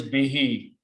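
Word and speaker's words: بِهِ: and read them together, because of the kasra sound here under B, we pronounce this who as he also.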